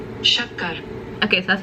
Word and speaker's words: Shakkar: Okay, so this is how you pronounce it, which I'm not sure I can do justice on how to pronounce it. Shakkar. Shakkar.